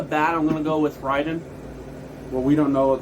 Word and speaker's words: Raiden: i think it was raiden from metal gear rising i think it's pronounced ryden but that's just me i called him raiden it might be right raiden's like thunder god all right i don't